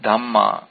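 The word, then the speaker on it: dhammā: mana in here are called dama with a long a at the end this is different from dama as in Buddha Dhamma dama are basically our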